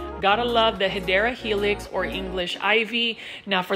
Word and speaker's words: Hedera Helix: This is our Hydra Helix. Gotta love the Hedera Helix or English Ivy. Now, for those that are new, you already know that I mispronounced Hedera Helix as Hydra Helix.